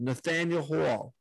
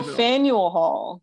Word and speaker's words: Faneuil Hall: trying to pronounce it called nathaniel hall you know the fanduel it's that it's i must be pronouncing it wrong it's a place where there's a whole bunch of different foods and oh faneuil hall and you say potato